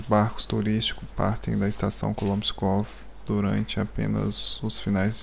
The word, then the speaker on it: Kolomenskoye: Pessoal, eu tava falando Kolomskoy, e aí eu fui ler o nome em russo e eu vi que eu estava falando a pronúncia do local errado. É Kolomskov, mas nunca é tarde